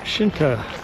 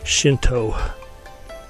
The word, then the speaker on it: Shinto: really good dessert we are walking to the shinta shrine shinta have shrines Buddhas have temples it's actually pronounced Shinto our guide was telling us the Shinto shrines